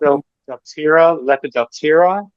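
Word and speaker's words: Lepidoptera: Um, I don't even know if I know how to pronounce it. Um, oh dear. Someone else help. Lepodopira.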